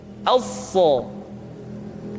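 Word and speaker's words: ث: Huruf sa sama seperti huruf sin dan huruf za, yaitu lidah berada di antara dua gigi seri. As-sa.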